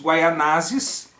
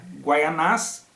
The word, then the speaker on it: Guaianazes: Ele acabou se casando com uma indígena da tribo dos Guaianazes, alguns preferem pronunciar Guaianás, então da tribo dos Guaianazes, e a partir disso é feita uma aliança entre os portugueses e os Guaianazes, ok?